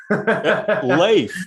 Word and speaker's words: Leif: where did the name leaf come from because leaf you know i haven't corrected you but it's actually pronounced slave life okay so it's not like a viking okay